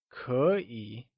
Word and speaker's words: 可以: 可以 stresses on two tones, E and I, and on both it uses the falling rising tone.